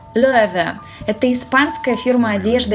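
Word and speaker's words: Loewe: Произносится Löwe. Löwe.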